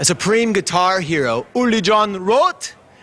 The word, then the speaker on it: Roth: hero uli john wrote can i say rother wrote don dawkins said wrote why would don dawkins say wrote it's cool in germany it's a wart but yeah but in america nobody can pronounce that so it's only john roth john roth well the